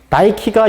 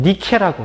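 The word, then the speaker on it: Νίκη: 나이키가 영어식 표현이고 라틴어식으로 표현한다면 니케라고 해요.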